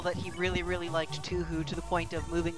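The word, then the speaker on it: 東方: he really, really liked Tuhu to the point of moving to Japan. Because, oh my god. It's Tuhu? I thought it was Toho.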